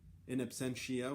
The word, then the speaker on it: In Absentia: In Absentia, we were debating how it's pronounced. In Absentia, In Absentia. Either way is correct, actually.